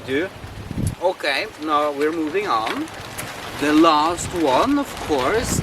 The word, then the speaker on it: Å: Okay, now we're moving on.